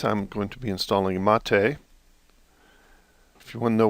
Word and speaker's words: MATE: And it says the name Mate, pronounced Mate, comes from the yerba mate, a species of holly native of subtropical South America.